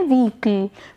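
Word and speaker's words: vehicle: हम कह सकते हैं व्हीकल या फिर वहीकल भी बोलते हैं बहुत लोग, तो दोनों प्रोनाउंसिएशन ठीक है।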